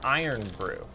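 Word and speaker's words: Irn-Bru: i think interesting okay pronounced iron brew iron brew okay what uh what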